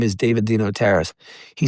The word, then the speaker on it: DeNotaris: Jernigan, my name is David Dino Terrace." He said, "Spell that, please."